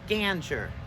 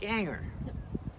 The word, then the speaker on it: Ganger: with a soft g ganger my dad pronounced it to rhyme with hanger like ganger and i took the